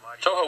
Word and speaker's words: Toho: Toho almost rhymes with Ho.